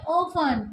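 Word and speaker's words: often: फिर 5 में देखते हैं ओपन, तो टी साइलेंट है।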